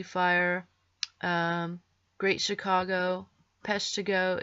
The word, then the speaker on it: Peshtigo: e fire Great Chicago Peshtigo is 3 syllables like paradise Peshtigo and tubs so